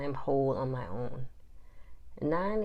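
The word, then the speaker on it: nein: whole on my own nine is how you say no in German I still love saying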